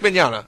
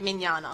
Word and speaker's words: Mignogna: Anyway, Evie texted in and said it was Vic Mignogna. I don't know how to spell his last name. Now Mignog-na. Mignog-na. Eggnogged. Yuri Lowenthal. It's spelled Yuri Lowenthal. Mignog-na, but it said Mignana.